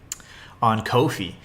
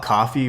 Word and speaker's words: Ko-fi: this huge donation on Ko-fi. And a lot of people call it coffee, but they've actually said it's pronounced Kofi.